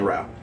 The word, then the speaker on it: Rao: We pronounce it Rao, so yeah.